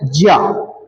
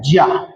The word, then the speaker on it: ज्ञ: तीसरा वर्ण कौन सा है, तो तीसरा वर्ण है ज्या, जिसको कुछ लोग ज्ञा भी पढ़ते हैं, तो उच्चारण वास्तव में इसका क्या होता है, ज्या।